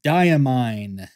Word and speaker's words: Diamine: for sure the ink for for today is diamine hooray for the correct pronunciation Oxblood now if you are into fountain